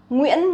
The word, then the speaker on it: Nguyễn: Nguyễn, Nguyễn is like the most famous last name of Vietnamese people. Nguyễn, Nguyễn. So I see a lot of foreigners, they actually pronounce incorrectly. Try to relax your muscle, okay?